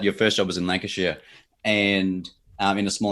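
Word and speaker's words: Lancashire: Yeah, Lancasher. Yeah, Lancasher. Northern Lancasher. You said Lancasher. Lancasher. Lancasher. Lancasher. So, yeah. So, you shared with us that your first job was in Lancasher.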